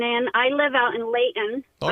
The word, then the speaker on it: Layton: I even say it right, Layton, not Layton.